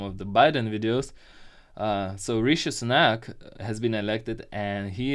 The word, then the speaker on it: Rishi Sunak: Rishi Sunak, just trying to make sure I pronounce it right after watching some of the Biden videos. So Rishi Sunak has been elected, and he is a very